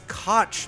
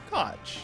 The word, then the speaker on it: Koch: crotch out loud and when they said it i was like catch koch that could go coke that could go other ways there's a lot of different ways you could potentially pronounce that more than one person within a company said koch and a couple people in our comments corrected me so i gotcha